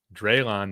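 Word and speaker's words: Drelon: It's Drayon, not dry. That's what Dante's saying. Okay. It's pronounced long a forget what that was. Long a dre.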